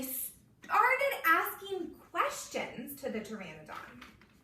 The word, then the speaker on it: Pteranodon: Yeah, that's a really good way to look at how to spell it. They asked the P-T-R-A-N-O-D-O-N. Pteranodon.